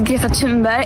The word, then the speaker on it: Greta Thunberg: My name is Ga Timber and I am from Sweden. Well, firstly, we've all been saying it wrong.